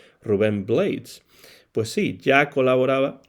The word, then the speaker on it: Blades: muy popular Rubén Blades, que algunos pronuncian Rubén Blades. Pues sí, ya colaboraba Rubén Blades con el grupo fundado por Jerry González con su hermano Andy.